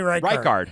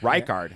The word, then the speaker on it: Reichardt: Kelly Richard? Dude, I don't know. Oh, Reichardt? Kelly Reichardt. Reichardt.